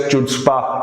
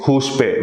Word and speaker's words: chutzpah: Incorrectly pronounced by Shahid Kapoor as chutzpah in Haider. So that is huspe, which also means audacity, bravery.